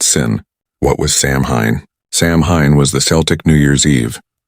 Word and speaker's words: Samhain: And the most powerful day of the year was October 31st, the night of the festival called Samhain, pronounced Sin.